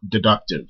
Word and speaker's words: deductive: are called deductive arguments, or deductive. We're just talking about them and not stressing the first syllable.